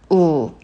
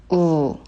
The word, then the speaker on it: 우: And the next vowel, U. U. U. U is like the vowel in mu, but it should be shorter than that.